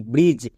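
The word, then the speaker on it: bridge: কি হলো বি আর আই ডি জি ই ব্রিজ এখানে ডি সাইলেন্ট আমরা মনে রাখবো কোন শব্দের শেষে যদি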